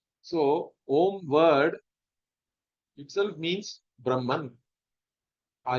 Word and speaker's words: Om: But when you actually do the Ucharanam, the pronunciation, it should be Om. It should not be Aum and all that.